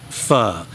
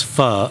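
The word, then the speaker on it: phở: And you'll notice again the O has a squiggle, which means it's pronounced fur. Well, it's not pronounced fur, it's pronounced fur because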